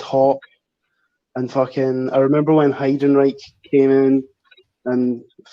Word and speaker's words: Heidenreich: Like, since my brother and I were that young, we didn't know how to say his name, so we just thought he was called Heinrich.